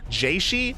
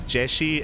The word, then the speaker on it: Jieshi: to say jaishi and we used to say um oh my God shigua I think no sorry was it oh God no what do we call him shigua I think and uh and she explained that it was uh jeshi and and sugua Suga